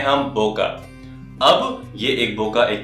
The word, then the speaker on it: bokeh: हैं पका पके बके बहुत ही अलग-अलग टाइप से लोग इसको प्रोनाउंस करते हैं पर जो इसका सही प्रोनंसिएशन है वो है बोका जिसको आप यूजुअली स्पेल करते हैं बी ओ के ई एच और अगर आप चाहे कहीं